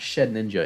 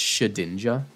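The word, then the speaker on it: Shedinja: ninja not shed ninja it's shadinja that's actually a command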